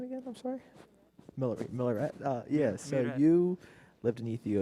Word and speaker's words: Miller: Miller.